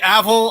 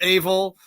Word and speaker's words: Avil: Well, I mean, the right emphasis on a different syllable, is all relative. You call me Avil, I call it Avil.